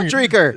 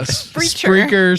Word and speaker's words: Spreaker: Streaker. Yeah. Spreaker, Stitcher, iTunes, Spotify, YouTube, Facebook.